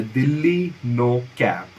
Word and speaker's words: DL9CAP: I guess usko pronounce karne ka better way hai Delhi No Cap. Okay, so DL stands for Delhi and जैसे मैंने Instagram